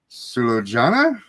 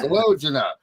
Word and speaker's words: Sulojana: apologize for this, but it's Jeeva and Sulojana. Yeah, close enough. All right. I was going in my head like, I know how to say it. Try. You're supposed to say the J. I know you're supposed to say the J, but how is everything else going on? Yeah. Sulojana. See, I knew you said it different. There was an extra syllable in there.